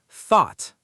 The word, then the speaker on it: thought: Thought. Say it. Thought. The GH is silent.